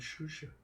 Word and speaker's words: Xuxa: Her name is Shusha. Yeah. It's XUX. XUXA. Yeah. Oh, yeah, that's the very- Mexican pronunciation.